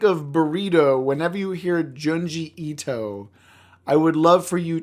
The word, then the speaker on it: Junji Ito: Chris is going to now learn how to pronounce junji junji Ito Ito junji Ito junji ito's name he is very important he